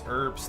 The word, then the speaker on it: herbs: It's herbs. The H is silent.